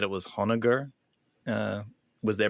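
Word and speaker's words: Honoghr: let's keep it going I like onager where you don't pronounce the h kind of like honor oh maybe yeah oh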